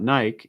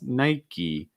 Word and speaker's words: Nike: so in the us people are going to pronounce the e sound at the end so it's not nike it's nike nike holding that e